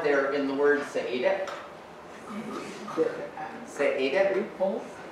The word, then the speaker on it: Seediq: Three syllables. I'm overemphasizing the final. Which is the stressed syllable, the main stress in the word? There's one main stress in every word in the language. Say it. Well, I've given you body language to help. So the second syllable, the penultimate syllable, the second last syllable is always stressed.